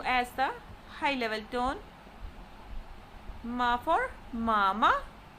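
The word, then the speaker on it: mā: Ma for mama. G for gaga. Elder brother. Gaga. Mother. M-A with first tone. Mama. It is pronounced using a high level tone.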